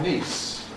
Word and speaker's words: niece: My brother's daughter is my niece. My niece. These are my knees. My knees. So, it lasts a very short time when it's followed by the voiceless fortis s than when it's followed by the voiced z.